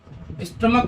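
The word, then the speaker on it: stomach: स्टमक को स्टोमच नहीं बोलेंगे ना, भले कैसा, मतलब बहुत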